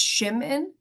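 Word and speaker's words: Szymin: um so actually um shim's original last name it's polish and PR my pronunciation might not be great but it's shim in so it was a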